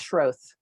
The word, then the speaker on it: Schroth: Last name is pronounced Schroth. Scroth? Schroth, like Schultz, only Schroth.